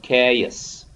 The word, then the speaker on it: chaos: ch here we uh we don't pronounce it cha yes we pronounced it uh as ka so chaos okay so the transcription like